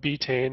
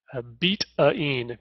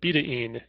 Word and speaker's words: betaine: And most people call it betaine, and recently I've read that it's appropriate or proper pronunciation is betaine, betaine. And that was primarily because it was derived from beet, and it's a chemical bond, whatever.